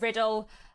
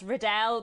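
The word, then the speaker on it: Riddell: The next author I want to tell you about is Charlotte Riddle. I always instinctively want to say her name as Riddle, but I'm pretty sure that it is meant to be said as Riddle.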